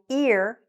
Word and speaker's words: ear: a little bit my ear is blocked ear that starts with the e sound right the other one does not let's say this again my ear is blocked the next one number 22.